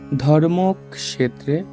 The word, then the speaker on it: ধর্মক্ষেত্রে: বিষাদিও গাহা প্রথম শ্লোকটি বলেছেন ধৃতরাষ্ট্র ধৃতরাষ্ট্র উবাচ ধর্ম ক্ষেত্রে আমরা জানি কি ক থাকলে ক যোগ মূর্ধন্য সহ এজন্য উচ্চারণটা হবে ধর্মক্রে কুরুক ক্ষেত্রে সমবেতা দন্তস থাকলে